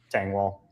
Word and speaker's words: Tengwall: Tangwell. Uh, Tangwell is on the show, man. Yeah, I got your name right. Is it Tangall? Yes, sir. Got me.